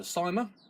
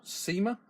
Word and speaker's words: Syma: main event we've got the cyma or SEMA depending on how you want to pronounce it X 21 w now